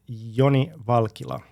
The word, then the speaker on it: Joni Valkila: I pronounce it Yonyi Valkila.